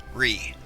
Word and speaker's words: Righ: I go by Ree, which is spelled exactly how it's pronounced, R-I-G-H. Ree.